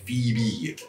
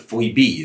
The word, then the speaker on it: Phoebe: now and then though o and e really don't make that sound in names like phoebe and it was like phoenix that's for sure they make a most harsh e sound like maybe they should be spelled p h e e b e phoebe would make a bit more sense i suppose we know